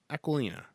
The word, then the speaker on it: Aquilina: Aquilina.